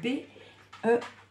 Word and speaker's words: Beltane: Alors, ça s'écrit B-E-L-T-A-N-E.